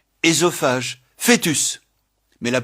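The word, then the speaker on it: œsophage: Édipe, énologie, ésophague, fœtus. Mais la prononciation E est courante, en particulier dans fœtus, foetus, par confusion avec le second cas.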